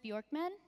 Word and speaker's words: Björkman: in the world we we will create Thomas Bjorkman did I say that oh that's great he's